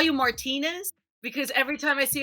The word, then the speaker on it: Martinez: Martinez.